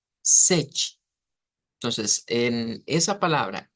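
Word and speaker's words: sete: sonido de una ch entonces significa que el número s nosotros lo vamos a pronunciar como sechi sechi entonces en esa palabra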